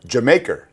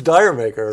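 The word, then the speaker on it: D'yer Mak'er: everything they could do absolutely right the correct pronunciation for dire maker Jamaica Jamaica what's the background the it's a it's from a British joke yes right yeah it's from British joke but everybody says Dyer maker yeah everybody says Dyer maker I said Diane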